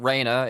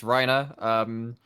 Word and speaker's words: Reiner: So it's not Reiner, it's Reiner.